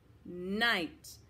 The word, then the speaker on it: knight: another kind of night there's a knight with that silent k um i um with the silent k i knight good let's switch over